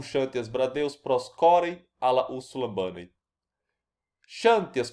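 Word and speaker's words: Ξανθίας: Perceba que eu falo Xantias, né? Como se tivesse um acento na última sílaba, na penúltima sílaba, né?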